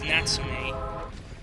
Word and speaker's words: Natsume: And that is how you pronounce it, because thanks a lot to Sergeant Frog, it's Natsume.